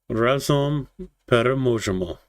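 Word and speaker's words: Разом переможемо: And just so you know that I'm not mispronouncing it, Razom Peremojemo.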